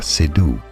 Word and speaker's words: Seydoux: Well, Leah Seydoux. Yes, a silent X there. Léa Seydoux.